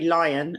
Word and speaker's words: Lyon: to look at mary lyon and that's how i'm going to pronounce her name even though it looks like leon but she is in